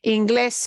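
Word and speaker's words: Inglés: Ingles yeah English Okay Ingles gets our an accent mark on the ending because that's not this that's the last syllable it's different right the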